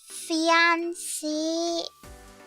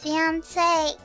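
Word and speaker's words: Fiancée: It's called Fianci Body Mist and the fragrance is pure shampoo. Pure shampoo. And it smells like shampoo. Oh, it's pronounced fiance.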